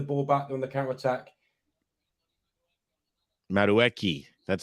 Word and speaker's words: Madueke: Madueke.